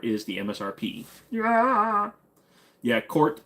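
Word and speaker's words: KRT: the MSRP yeah yeah court but it's k r t it just pronounced Court what do I think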